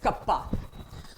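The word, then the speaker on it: kappa: गया जिसको बोलेंगे conductivity and this symbol is pronounced as कप्पा।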